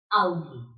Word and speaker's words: Auge: When there is an AU together in a word, then this will sound like ow. Ow. Right? So there is an example here. Auk. Auk means also. Auk means also. Another example. Das Auge.